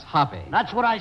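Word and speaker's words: Hoppe: i hired five geniuses every day who's willy hop national billiard champion and uh it's pronounced hoppy that's what i said anyways i didn't ask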